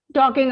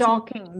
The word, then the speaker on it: talking: Talking about. Yes, Talking. The L is silent over here.